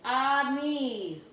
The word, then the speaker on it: ami: The word is ami, my mom says. You say it like this, ami.